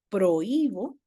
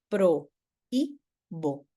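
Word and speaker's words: prohíbo: la misma sílaba prohibir en cambio prohibo tiene un lato un lato acentual proibo Sí entonces lo que lo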